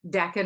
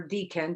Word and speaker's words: decan: So decan or decan, depending, different people pronounce it different ways.